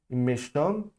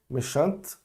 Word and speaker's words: méchante: Méchante. Aí eu não vou falar o E, mas eu vou pronunciar o T.